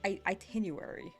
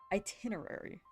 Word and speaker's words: itinerary: But that's on the art itinuary itinerary. What? How do you say that word, dude? I've I I've heard it and I know the meaning of it, but I've never used it. Itinerary.